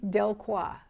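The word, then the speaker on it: Delcroix: um a doll by the dowel maker henry del cua d-e-l-c-r-o-i-x and i spell it for you because you may not have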